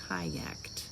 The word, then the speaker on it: kayaked: It ends with the K. It makes the T sound on the ED, so kayaked.